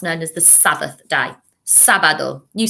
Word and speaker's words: sábado: And Viernes, remember, is pronounced with a B rather than a V. Viernes. Viernes. Sábado.